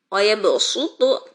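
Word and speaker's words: وَيَبْسُطُ: Jangan lagi baca wayabsutu, tapi dengan sin digantinya.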